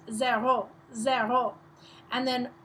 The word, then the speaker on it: zéro: So, starting with 0, it's pronounced zéro, zéro, and then 1, 2, 3, 4.